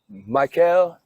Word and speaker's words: Mickel: Mickel, which is Michael to you, but English slang, but it's spelled M-I-C-K-E-L. It's Michael in Germany.